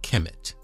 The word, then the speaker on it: Kemet: Egypt by the Greeks that land was known as Kemet Kem ET Kemet Kem kmt in ancient times and Kem ET in our modern times that's how we spell it now kem ET a back then it was just k mt because they didn't have vowels and the culture was